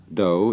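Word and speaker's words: 道: Judo Jew means gentle do is the Japanese way of pronouncing Tao The Gentle Way so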